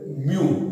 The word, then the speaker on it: nu: यहाँ हमने फ्रीक्वेंसी को दूसरे ग्रीक लेटर से दिखाया है, जिसको हम कहते हैं न्यू, NEW स्पेलिंग में कह सकते हो आप उसको, बट NEW आप लिखोगे नहीं, आप कहोगे न्यू।